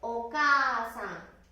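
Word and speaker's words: お母さん: お母さん、お母さん。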